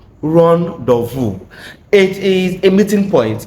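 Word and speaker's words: rendezvous: It is pronounced as rendees boo which I have heard one of one of my student pronounce it once before. It is pronounced rondu. Ron dvu it is a meeting point a place where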